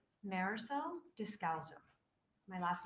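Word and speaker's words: Descalzo: Marisel Dowzo. My last name is spelled D E S C A L Z O.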